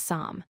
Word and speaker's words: psalm: The P is silent. We say it as psalm.